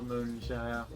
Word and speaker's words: Moonshire: this is it for halloween 2021 clouds over moonshine you do not tell me how to pronounce my own title in a couple days